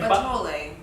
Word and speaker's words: Buttholé: No, Batole. Batole. Ba or ba? Like Mario No, like Like Batole.